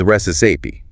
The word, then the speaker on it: recipe: The pronunciation is resi stress on the first syllable.